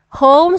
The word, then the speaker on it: home: h o m e so h o m e sounds or read as ho everybody read home so we have here the o and home ends with a letter e so the sound of o here is a long sound so you could say